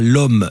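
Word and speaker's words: Lhomme: restaurant chez Fred à l'homme dans la Sart. Alors l'homme, ça s'écrit comme l'homme mais c'est bien une ville he c'est dans la Sart.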